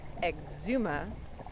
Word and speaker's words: Exuma: we learned that afterwards the island chain is exuma and the smaller islands even though they're spelled c-a-y are pronounced key cool little undercut rock here that